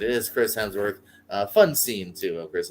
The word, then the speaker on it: Hemsworth: said Dennis no I didn't I said Chris hensworth what that' be really weird both r d